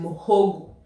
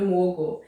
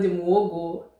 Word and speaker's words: Muwogo: Okay, I didn't know it was even pronounced or written muhogo. I didn't know that. Okay, today I'm going to do muwogo. If you're from Uganda, it's called muwogo, and Muhogo Ow'ebizaali.